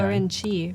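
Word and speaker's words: Orenchi: Is it just spelled like orange? No, orange. O-R-E-N. Oh, I see. CHI. Orangey ramen.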